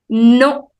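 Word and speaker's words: non: it's we we yes no no it is written as n-o-n but the pronunciation is same as English no no next which means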